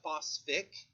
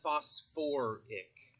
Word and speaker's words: phosphoric: is a weird one we don't call it phosphic we call it phosphoric i don't know why but they decided that phosphate sounded stupid so on that one they went back to the original syllables and by the way